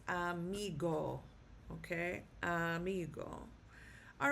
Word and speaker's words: amigo: A migo. And the stress is on the second to last um syllable. So it is pronounced amigo.